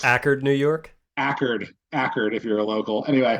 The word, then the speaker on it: Accord: cool group um in accord I'm saying that wrong it's not pronounced the way the car is it's actually ackard um you'll get in trouble if you say a chord in accord New York